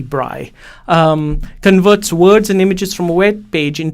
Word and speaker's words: Braille: displays or bright displays to pronounce it correctly it's Louis Bry converts words and images